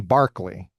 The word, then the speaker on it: Berkeley: philosophy department at Berkeley, you're going to study Barkley, who is the namesake of Berkeley. And they're not going to explain the disparity in pronunciation to you.